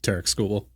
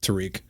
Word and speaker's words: Tarik Skubal: Yeah, Tarik Skubal. Yeah. It's technically how you say it, but yeah, I do sometimes default to Tarik.